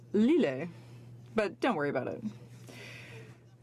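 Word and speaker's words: L'Islet: And it's actually pronounced Lille, but don't worry about it.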